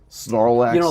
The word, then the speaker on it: Snorlax: Snorlax.